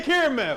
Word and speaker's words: caramel: yes the caramel you have different pronunciations caramel frappuccino dude I graduated college yeah all your English teachers numbers say caramel that's the right way hey look I don't